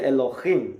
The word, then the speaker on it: Elohim: español Elohim o Elohim con h intermedia en hebreo se pronuncia Elohim no en el principio